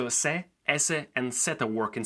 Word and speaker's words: c: Today we're going to learn how letters se, ese, and zeta work in Spanish. Now let's go. We begin with letter se. Yes, it's pronounced se and not si.